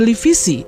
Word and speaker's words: Livisi: Kayakoi dalam bahasa Yunani kuno dikenal sebagai Karmilisos, disingkat menjadi Lebesos, dan diucapkan dalam bahasa Yunani modern sebagai Livisi di Provinsi Lama Lysia.